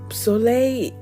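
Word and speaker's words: solèy: for it and um soay is Sun it sounds like I'm saying it in French but it's spelled in Creole and soay and um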